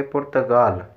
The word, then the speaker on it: پرتقال: ہی بتا چکا ہوں، یہ جو فارسی والے لوگ ہیں یہ کاف کو غین کے تلفظ کے ساتھ پڑھتے ہیں۔ یہ لکھا تو پرتقال ہے لیکن اس کو پڑھیں گے پرتگال۔ پرتقال کو کیا پڑھیں گے؟